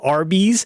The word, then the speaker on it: Arby's: be mhm roast beef RB is how you pronounce the letters r and the letter B yes yes yes so